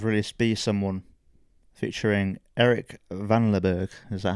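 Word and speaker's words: Vanlerberghe: Oh, Trash Boat have released Be Someone featuring Eric Van Leberg. Is that how you pronounce his name?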